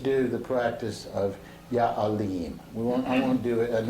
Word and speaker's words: Alim: A-L-I-M, Alim. And with the emphasis on the second syllable, the E sound that you particularly feel in the third eye center.